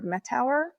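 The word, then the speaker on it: Mettauer: In 1817, the first cleft pallet surgery was performed in the US by John Peter Metauer.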